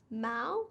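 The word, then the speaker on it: mau: hand corner we've got the portuguese word mao which means bad but that's exactly the same vowel sound ow as in now in english identical sounds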